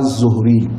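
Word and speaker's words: Zuhri: la sorte mais généralement dans les livres je vois son nom azori et les grands savant aussi prononce son nom à zohri mais il s'appelle Mohammed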